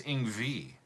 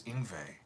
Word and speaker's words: Yngwie: I saying it wrong he says ingvi in we I thought it was ingve but I'm not I think I'm right uh I will